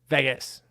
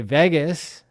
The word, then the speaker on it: Vegas: He wants me to say Vegas or some other Las Vegas, right? I say it like the vagus nerve, which is a nerve